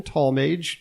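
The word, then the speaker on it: Tallmadge: Mage major Benjamin tallmage that's spelled m a d g e not m a g e it wait is it he was not I thought it was talage could be looks like it's Mage which is a very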